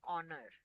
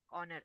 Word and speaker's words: honor: Question that is the reason because H is silent over there. Same way we have the word an honor. Honor.